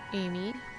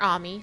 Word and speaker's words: Ami: have a timer and it goes pretty quick amy or ami depending on how you feel like pronouncing it i watch um an anime called